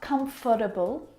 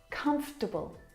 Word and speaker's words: comfortable: pronounce come table not comfortable or comfortable but come - bull come - bull you skip that vowel sound comfortable you look very comfortable